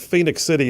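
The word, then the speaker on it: Phenix City: If you're not familiar with the story about Phoenix City, Alabama, and by the way, for those of you that aren't familiar, Phoenix is spelled Phenix.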